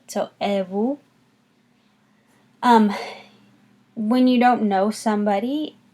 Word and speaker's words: et vous: And in French, you would ask back, et vous? Et vous? Notice that the T is silent in et, and the S is silent in vous.